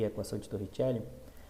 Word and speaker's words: Torricelli: uma equação chamada de equação de Torricelli, ou Torricelli, dependendo da sua pronúncia no italiano.